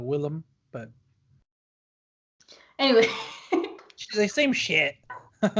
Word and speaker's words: Willem: for me everyone suddenly all William Dafoe it's a Willem but anyway the same yeah so you were saying it has mr.